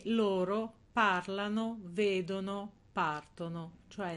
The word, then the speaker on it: partono: e loro parlano vedono partono cioè nel loro l'accento sarà sempre sulla terzultima questo perché Perché la